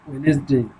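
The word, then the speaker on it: Wednesday: ওয়েডনেসডে বন্ধুরা, ওয়েডনেসডে অর্থাৎ বুধবার, এখানে ডি এর উচ্চারণ হবে না বন্ধুরা, শুধু ওয়েডনেসডে।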